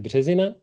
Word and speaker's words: Březina: My name is Březina, or you can pronounce it Březina, it's fine. If you manage to give it Italian spin, like Březini, you get extra points.